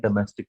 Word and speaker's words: domestic: ये जो ओ है अगर आप देखें तो उसका उच्चारण जो होगा वो चंद्र वाला होगा, बिंदी नहीं है।